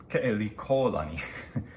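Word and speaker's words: Keʻelikōlani: in fact and at that time uh princess pronounce that wrong uh Kelly Kelly callani sorry Hawaiian friends um who was the last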